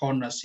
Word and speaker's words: honest: Kita lihat di kata setelah an itu adalah honest, yang mana cara pelafalannya adalah honest, sehingga menggunakan menggunakan kata vokal, jadi penggunaannya sudah tepat menggunakan an.